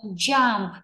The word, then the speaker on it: jump: Tuy nhiên cái âm đầu tiên này, J says, j, j, j, cong môi lên, rung cổ họng, j, j.